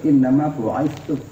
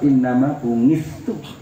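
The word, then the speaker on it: إنما بعثت: Bacanya yang benar, innama bu'itsu. Kalau lidah Jawa, innama bungistu.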